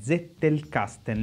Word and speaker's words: Zettelkasten: chiama metodo zettel casten pronuncialo come zettel casten lentamente zettel casten Io l'ho sempre odiato